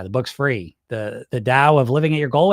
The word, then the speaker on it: Tao: It's it's to like it's tao is how it's spelled pronounced dao.